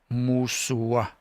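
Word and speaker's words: mooswa: So if you think of this as an O, but you pronounce it like an O, like oh, like shook or book, and you say moose, o, musua, musua.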